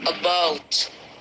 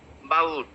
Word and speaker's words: about: We pronounce it about, about. That is the wrong pronunciation. It's the short about, about. Do you remember the short sound?